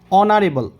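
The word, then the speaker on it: honorable: এখানে দেখো অনারেবল, এইচের উচ্চারণ হয়েছে অ, অনারেবল পারসন, এখানে অ উচ্চারণ হওয়ার জন্য আমরা অ্যান আর্টিকেলটি বসাবো।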